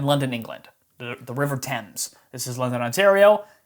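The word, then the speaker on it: Thames: So, this is the Tempame's River right here. It's spelled Fames. It's not pronounced Fames. That's it's it's named after the river in London, England. The the river Tempames.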